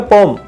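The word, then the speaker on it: poem: इसको पोयम भी बोलते हैं अधिकतर लोग, लेकिन इसका जो सही उच्चारण है वो है पोम।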